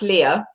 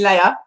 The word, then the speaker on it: Lea: do best okay well it's pronounced leah but you americans always call me leia princess leia um i